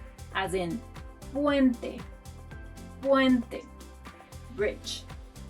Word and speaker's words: puente: La letra P, letter P, as in puente, puente, bridge. To pronounce this letter like a native, put your hand in front of your mouth and try not to put air like you do in English.